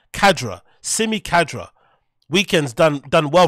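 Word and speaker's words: Khadra: Kadra.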